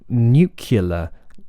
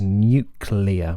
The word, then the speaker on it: nuclear: B and also with nucular uh whereas the word actually is nuclear with an L after the C you know um so